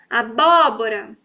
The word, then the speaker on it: abóbora: E agora, abóbora, abóbora. Aquela dica que a prof falou, tá com acento agudo, gente. É ali que tá a sílaba tônica.